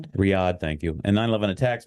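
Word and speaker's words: Riyadh: Lessman was formerly charged with investigating the possible link between Rya, and I mispronounced that too, Riyad. Riyad. Riad, thank you.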